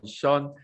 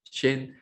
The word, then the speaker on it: Shane: I can see a lot of Q&A questions as well from Sean. Shane, I always pronounce because you got Shane and Lynn become Sean.